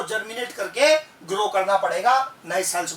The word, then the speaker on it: Chara: ये कहलाता है कारा। चारा नहीं है, लिखा ऐसे ही जाता है, CHARA। क्या प्रोनाउंस होता है? कारा।